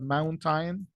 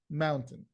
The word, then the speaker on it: mountain: But actually that sound, phonetically speaking, what we are going to observe, what we're going to listen to actually in the last column, the sound is a, super fast, bargain, certain, mountain.